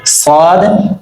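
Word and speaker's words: ص: ক কা ল জাল সদ সিন। সদের উচ্চারণ একটু আওয়াজটা একটু মোটা হবে, আর সিন উচ্চারণ একদম পাতলা হালকা ভাবে হবে।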